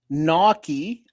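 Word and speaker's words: gnocchi: Naki, pronounced Naki, is a a varied uh family of Italian pasta, like dumplings made of small rolls of dough.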